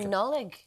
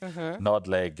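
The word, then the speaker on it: Nodlaig: But he said, Nullig says that most people pronounce the D because he spells it N-O-D-L-A-I-G. Nodleg or Nodlag.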